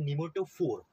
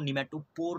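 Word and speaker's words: nematophore: तो ये देखो जो निमेटोफोर हमारे पास है, जो टॉप पर हमारे पास बन रहा है उसको कहते हैं निमेटोफोर। ध्यान रखना है, इसको निमेटोपोर नहीं कहते।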